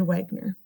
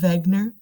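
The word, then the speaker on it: Wegener: this guy named alfred wagner um he's from germany so really i think the real way you pronounce it is alfred wegner i think so i think that's a german way to pronounce it um he was a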